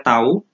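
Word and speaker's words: τ: Nah, ini ya tadi simbolnya tau, ini dibacanya tau.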